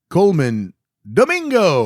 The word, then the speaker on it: Colman Domingo: Now, Brad, uh, Coleman Domingo. Uh, now say his name like you're supposed to. Coleman Domingo.